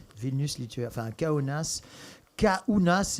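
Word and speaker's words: Kaunas: Vilnus litu enfin conas counas et non pas ku n AAS comme pourrait comme on pourrait penser à la prononciation kounas voilà et donc voilà on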